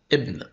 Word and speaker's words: ابن: ما يعرف بالف الوصل الف الوصل بتكتب وما بتظهرش في النطق وده اضطرارا حتى نتجنب البدء بالساكن على سبيل المثال ابن امراه اعتراض استقرار الحاله التانيه اللي